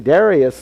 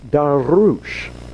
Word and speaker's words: Darius: when the Persian king Darius I, by the way, I learned from a Persian kid in my class one time. That's not how you really say his name. His name is Darush.